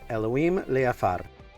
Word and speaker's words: Elhoim Leafar: And I want to introduce you to today's guest, Elhoim Leafar. Did I say that Yeah, correctly? perfectly said. I'm used to everybody just mispronounce it, so I just say to everybody,